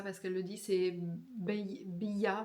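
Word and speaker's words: Beyah: Euh alors c'est pas ça se prononce pas comme ça parce qu'elle le dit, c'est Bya B. Ça s'écrit B E Y A H.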